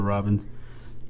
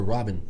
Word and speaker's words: Robin: It's Christopher Robbins. There's no S. It's Christopher Robin, Dick. You're Robbins. No, I'm not Robbins. You're being difficult. Well, you're saying the name wrong.